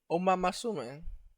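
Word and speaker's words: Uma Musume: Like it's the correct way to say it because that's the Japanese way to say it, but no. uh is it really? Are you supposed to pronounce it Oma Masume?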